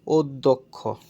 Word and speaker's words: অধ্যক্ষ: হয় থাকা তাই এখানে অ এর উচ্চারণটা এখানে ও এর মত হয়েছে এখানে অধ্যক্ষ এখানে তোমার হচ্ছে যে